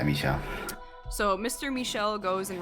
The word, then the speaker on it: Michel: Because Poirot asks the Dragonlit conductor, who is named, is it Michel? How does one pronounce it in French? Michel. Michel, okay. Yeah, Michel.